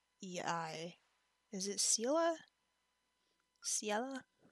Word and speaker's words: Ciela: Is it Ciela? Ciela? I always, like, thought it was Celia or something, which is wrong. Ciela. Ciela. I'll say Ciela.